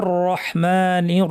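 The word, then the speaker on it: الرحيم: মিমে জের আছে বিসমিল্লাহ রাহমানির রাহিম পরপর দুইটা র আর রহমান এবং রহিম শব্দে এই র দুটাও খেয়াল করে আমাদেরকে ভারী করে উচ্চারণ করতে হবে আসুন এবার আমরা পুরো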